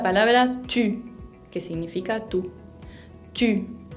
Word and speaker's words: tu: Tu. No quiero que lo pronuncien tú, sino tu.